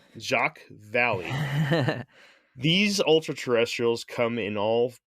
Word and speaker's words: Jacques Vallée: You pronounced it right. Jacques Vallée.